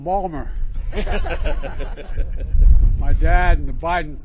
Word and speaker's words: Baltimore: By the way, folks, I say to my dad, "Dad, they're mispronouncing Balmer."